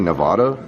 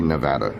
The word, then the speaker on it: Nevada: If you're an out-of-towner and you say Nevada, you might get slapped. It's actually Nevada. Not sure if you knew that. Don't ever say Nevada.